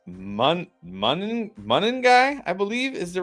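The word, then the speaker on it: Monangai: Tradeaway, London, Tet, Sharps, and Tez for Buuka, Niko, and Men Guy. By the way, one of our viewers commented, "We've been It's Menuy, I believe, is the right pronunciation." Mun like Monday.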